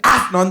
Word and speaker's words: Afnan: And you have Afnan. That's how you say it. That's the proper pronunciation. Afnan. You have to have the A in the Afnan because A is actually a letter in Iran.